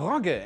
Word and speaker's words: Rogge: On top of that, Rabea Rogge, as you might notice I'm pronouncing this differently, will be the first female German astronaut to fly to space.